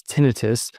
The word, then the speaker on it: tinnitus: Also tinnitus, which most doctors like me pronounce tinnitus, that ringing or hissing sound in the ears.